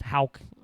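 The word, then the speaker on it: Haugh: Um Thomas Hal somehow pronounced with the H A U G H. That's Hal.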